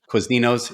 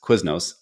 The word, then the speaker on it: Quiznos: He'd go to Quizninos. It's Quiznos. But just do your thing.